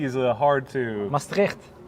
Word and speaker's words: Maastricht: Maastricht, with the T at the end.